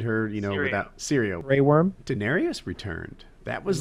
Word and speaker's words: Daenerys: time I see daen am I pronouncing the name right Daenerys Daenerys yeah Daenerys most the time I see